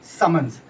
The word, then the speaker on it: summons: Normally हम इसको जब लिखते हैं तो समन्स लिखते हैं या प्रोनाउंशिएट भी करते हैं तो हम समन्स बोलते हैं, ना कि हम समन बोलते हैं।